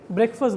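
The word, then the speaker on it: breakfast: पहले तो समझ लीजिए ब्रेकफास्ट नहीं होता है, टी को साइलेंट करिए, ब्रेकफास्ट बोलिए, ठीक?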